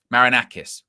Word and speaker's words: Marinakis: Is that how you pronounce it? Um Forest owner who is it? Um Marinakis.